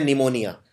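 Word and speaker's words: pneumonia: निमोनिया पी से शुरू होता है। लेकिन इसमें पी का उच्चारण नहीं किया जाता।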